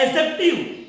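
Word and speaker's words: adjective: पे लिखते हैं एडजेक्टिव, ध्यान देना इसमें बच्चों डी साइलेंट होता है, इसको क्या पढ़ते हैं एडजेक्टिव, एडजेक्टिव का मतलब विशेषण,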